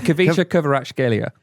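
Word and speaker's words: Khvicha Kvaratskhelia: It's Kavicha Kvaratskhelia.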